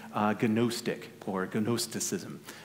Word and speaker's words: Gnostic: like I'm saying uh Gnostic or gonosticism it's g-n-o-s-t-i-c Gnostic it's a transliterated Greek which is why it's pronounced Gnostic and so the gnostics